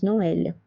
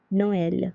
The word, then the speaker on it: Noël: That's the wrong pronunciation, so it's naïve. The last one is Noël, Noël, which means Christmas in French.